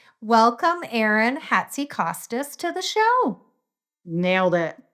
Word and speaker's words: Hatzikostas: And I did pronunciate your name before we hit record, but I'm going to say welcome Aaron Hatsy Kostas to the show.